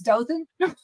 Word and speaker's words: Dothan: be from here but I know it's Dothan so it you've been around a million people so you know what I'm talking about it just makes you laugh when you hear it said wrong but my Mary Mariana